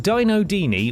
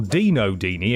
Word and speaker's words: Dino Dini: there bloody misleading indeed dino dini or dino deeney if you want to pronounce it different if you want to get different about this is not a